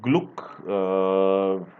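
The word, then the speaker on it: Glück: For literature, the winner is an American poet, Miss Louis Gluck, who has been she's 77 years old, and it's pronounced as Glick apparently, and she's written 12 volumes of poetry and essays as well.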